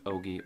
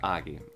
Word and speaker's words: Ogie: And she said it Ogie, so I thought it was Ogie. Spelled the same way, but it is Augie.